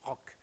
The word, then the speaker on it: Roch: So Roch, it's how it should be pronounced. A little bit like it would be a K in English, rock. Like it's a little bit like that. You say Roch.